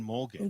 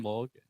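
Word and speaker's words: Morgen: tell our foreigner friends we emphasize the but when we do say it like daily we just say mo like it's more smooth and fast without like it's mo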